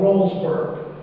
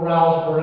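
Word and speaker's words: Rowlesburg: all near the town of Rollsburg, or Rouseburg. I've heard it pronounced both ways.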